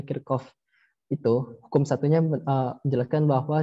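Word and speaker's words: Kirchhoff: Menurut Hukum Kirchoff Hukum Kirchoff tulisannya Kirchoff tapi dibacanya kircoff itu hukum satunya Jelaskan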